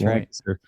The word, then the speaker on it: Lancaster: then also Lancaster which nobody but people in Pennsylvania know how to pronounce that word is lanaster lanter yeah yep Lancaster so uh grew up around